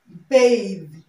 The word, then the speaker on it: bathe: Now, this word is pronounced bath, and this is pronounced bathe, bathe, okay?